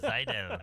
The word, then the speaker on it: Seidel: Seidel? Mike Seidel is Seidel. the very Seidel. Oh, it's like a Z Seidel, almost. the very Seidel. German way to pronounce it. Seidel.